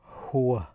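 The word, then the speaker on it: هو: bigger one and wow it's pronounced whoo whoo whoo that's a pronoun for the third person singular or singular whoo whoo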